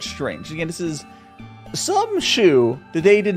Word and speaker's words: Shou: I've checked it's pronounced shoe s-h-o-u H shoe uh but there's multiple spellings and more pronunciations most people go with shoe like shoe it also is spelled